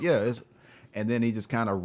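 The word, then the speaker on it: Issa: show is our East it's ISA right it's pronounced ISA right yeah yeah ISA right from insecure it's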